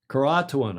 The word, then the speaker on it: Croatoan: The only sign that anyone had been there was the word Croatoan. As in crouton. It's not to be confused with crouton, but all that that obviously did come to mind. Croatoan.